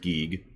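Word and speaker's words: Giegue: geig by the way it is apparently pronounced geek geig strikes back and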